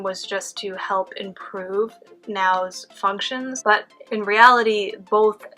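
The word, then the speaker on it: NAO: There was one robot they used called Now. I think that's how you say it. It's spelled N-A-O, which is an interactive humanoid robot.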